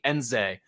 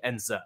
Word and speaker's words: Nzeh: So we've been calling Kachi Nzeh this whole time, like Z-A-Y. If you listen to him, he pronounced it more like Kachi Nzeh.